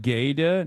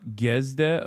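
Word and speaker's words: Gide: I mean, it's pronounced like Gede, not Gesde.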